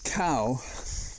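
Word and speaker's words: Cao: against the Republican right-winger whose name is cow and I'm sure that's the correct pronunciation because I heard him say it his name is spelled c-a-o and I believe he's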